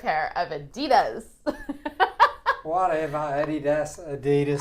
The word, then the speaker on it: Adidas: of Adidas whatever Adidas Adidas actually you say it closer to the Germans the Germans have a slightly different emphasis on one of the syllables I can't remember what that is right now but yeah Adidas is closer to the way the Germans say it that's where the brand comes from so ding ding